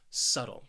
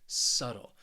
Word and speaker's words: subtle: for you is subtle this word has two syllables and the stress is on that first syllable subtle say it with me subtle what this word means